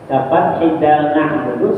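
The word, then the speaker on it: نعبد: iyaka nabudu bacanya iyaka na'budaah barisnya di atas lah ya demikian juga lahan cacat tapi cacat yang tidak merubah makna nabudu seperti yanga membaca baris di atas nabudu bacanya nabuda lakinu tetapinya inamada harum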